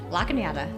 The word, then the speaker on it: Lachenyada: If I say this last name wrong, she's going to correct me. Is that Lachenyada? Lachenyada, yes.